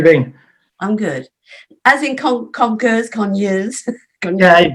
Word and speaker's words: Conyers: It's just Conyers. Conyers. It's just Conyers. Yeah, Conyers, that's all it is and stuff. Hello, Karen, how have you been? I'm good. As in Conyers.